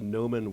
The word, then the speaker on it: Gnomo: The Noman Workshop, which is spelled Gnomo. Like a gnome, like a lawn gnome.